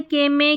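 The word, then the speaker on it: comb: फिर है एल के में के स साइलेंट होता है।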